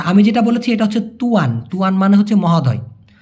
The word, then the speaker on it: tuan: আর Malaysia একটু খেয়াল করে দেখুন, TUAN উচ্চারণ হচ্ছে তুয়ান, এই যে তুয়ান।